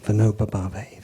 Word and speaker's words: Vinoba Bhave: And then there was a disciple of Gandhi, and I'm bad with the pronunciation, but you're going to tell me, Vinoba Bhave. Vinoba Bhave, thank you.